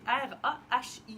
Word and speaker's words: Rahi: Je ne sais pas trop comment le prononcer, mais c'est R-A-H-I, donc Rahi, qu'on aime beaucoup parce qu'il se zippe bien.